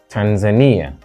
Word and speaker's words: Tanzania: but codiv Cod the so Tanzania third syllable bana second syllable Cameroon